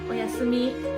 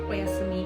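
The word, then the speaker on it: おやすみ: Oyasumi. It's like bye bye. Just good night. Oyasumi.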